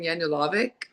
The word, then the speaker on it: Yanulavich: I'm Yanulavich. The H is pronounced silently.